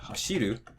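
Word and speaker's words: 走る: Then for 3-syllable verbs like taberu or hashiru, again, counting from the end, ru, be, the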